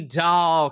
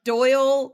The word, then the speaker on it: Dolle: me and thank you for saying my last name correctly that's so exciting do do people mispronounce doll all the time you would be surprised uh doyle delay uh dolly uh what the listeners